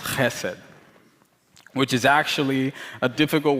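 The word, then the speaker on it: חסד: So one of the Hebrew words for love is hesed, or it should be pronounced chesed, which is actually a difficult word to translate in English, thus the many translations.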